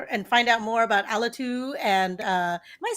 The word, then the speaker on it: Alitu: I say Alitu, Alitu. but everyone Okay, in the good. US says Alitu, which I like as well. Like, so I'm happy with either.